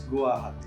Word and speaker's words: Guwahati: Now it is Guwahati.